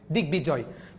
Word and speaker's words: দিগ্বিজয়: সন্ধিজাত শব্দ, যার কারণে এখানে গটার গয়ের পরের সাথে যদি ব থাকে এটা উচ্চারণ হবে দিগ্বিজয়।